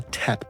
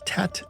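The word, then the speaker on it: Tết: The reason why they sound so different is because Tet is derived from an older Chinese pronunciation of the same word.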